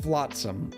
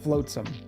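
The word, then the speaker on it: flotsam: I said flatsom, which is the correct name. You said floatsome. I thought floatsome is how you say f l o t s a m.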